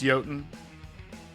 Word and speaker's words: Jotun: Yes, I did. You pronounced it like a filthy American.